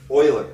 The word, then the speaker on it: Euler: that's he's a big deal right see students pronounce this Euler all the time we're gonna use Euler's method wrong pronunciation Euler it's pronounced Euler he's a swiss mathematician very